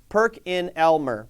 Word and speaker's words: PerkinElmer: absolute tongue twister I'll do it in syllables perk in Elmer PerkinElmer there we go that